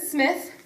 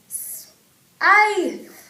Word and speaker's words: Smythe: Littleton made a slight mistake when introducing me, my last name isn't Smith, it's Smythe. It's pronounced Smythe.